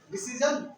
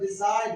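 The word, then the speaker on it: design: देखो जो इसको क्या पढ़ेंगे? डिसीजन, डिसीजन पढ़ेंगे नहीं, इस जी का उच्चारण नहीं होगा तो डिजाइन क्या होगा?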